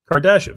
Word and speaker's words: Kardashev: Kardashev, see, that's how you say it.